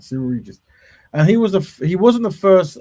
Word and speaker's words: Cyril Regis: It's Cyril Regis. Cyril, that's right, Cyril Regis.